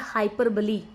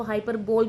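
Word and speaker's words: hyperbole: बी ओ एल ई आप में से कई शायद उसको हाइपर बोल भी प्रोनाउंस करते होंगे बट the exact pronunciation of that word is हाइपर बली इसको हम हिंदी में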